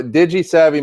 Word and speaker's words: DigiSavvy: okay good I I I really want to pronounce the I but I'm not sure if it'll flow right so Digis Savvy marketing um you guys build custom websites custom